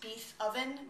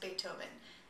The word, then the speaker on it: Beethoven: be about Beethoven Beethoven I know it looks like it should be pronounced be oven but it's actually pronounced Beethoven he was German Beethoven